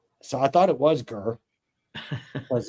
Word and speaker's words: Greer: my leg, they say they don't pronounce it Greer, that it was Gur. It may be, but I've always pronounced it Greer because I don't live there. I'm not saying that I'm right. I'm saying this out of pure ignorance because I remember I thought it was one of those. I was just saying, so it is pronounced Gur.